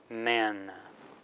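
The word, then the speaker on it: སྨན: Normally we have the inherent a vowel that's going to change to e before a na or a la.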